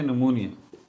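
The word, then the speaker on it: pneumonia: ठीक है, इसकी प्रोनाउंसिएशन थोड़ी सी मुश्किल है क्योंकि शुरू में जो है वो पी आ जाता है, ये पी साइलेंट है। ठीक है, पी साइलेंट है, निमोनिया।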